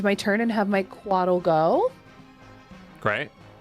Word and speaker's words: Couatl: I think I'm going to conjure, I don't know how to pronounce it. It's a Quaddle. Yep. Oh, yep, yep. Couatl.